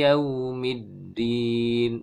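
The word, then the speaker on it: يَوْمِ الدِّينِ: Maliki yaumiddin. Middin dal tasydid middin. Hati-hati dal tertukar dengan ta atau po ya. Misalnya begini. Maliki yaumiddin. Middin ini diucapkan dengan ta ya, maka tidak tepat ya.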